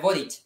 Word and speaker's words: Boric: Es Boric. Ah, Boric. Es Boric, pero le pudiste decir Boric porque estaba en Chile, pues, güey. ¿Y le puedo decir el Boris? ¿Le puedo decir el Boric?